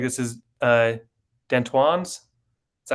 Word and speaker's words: D'Antoine: We take them to this is Banner's page with it looks like this is Dentoine's. Is that how you pronounce his Yeah, name? D'Antoine. Yeah, D'Antoine.